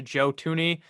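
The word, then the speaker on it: Joe Thuney: 80 million dollars to joe tooney i believe is how you say his name it's not spelled like that that's how you say it to the chiefs 80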